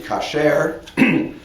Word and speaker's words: kasher: But in biblical Hebrew, the word would be kasher, although the Bible never uses this word with connection with food.